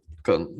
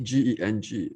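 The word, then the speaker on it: 庚: We call it Geng, G-E-N-G, pronounced as Geng.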